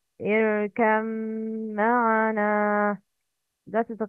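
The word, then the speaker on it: ارْكَبْ مَعَنَا: mim are متجانسين صغير ba is silent and followed by mim متحرك Please repeat after me the correct pronunciation. Irkam ma'ana. That is the correct. But the wrong is irkab ma'ana.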